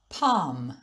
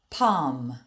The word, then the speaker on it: palm: lion and ball but sometimes the letter l is silent like in these words palm palm walk walk but i'm